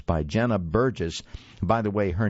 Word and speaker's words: Burgess: It's by Jenna Burgess. By the way, her name is spelled Jena, and Burgess is Burges.